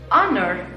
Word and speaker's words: honor: español hospital Okay pero hay palabras que también se escriben con h y suenan como una vocal como estas Our or honor la J que estábamos viendo con hospital eh history ya aquí no la vemos entonces suena como una vocal a pesar de que se escribe con h también entonces qué es lo